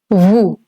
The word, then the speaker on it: vous: For saying you in a formal way, it's vous. Vous. Again, the S is silent over here.